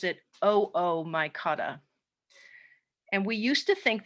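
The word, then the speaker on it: Oomycota: water mold so this terrible looking word is pronounced oh oh my god it looks like it should be ooh my kata but we pronounce it oh oh my god and we used to think that this was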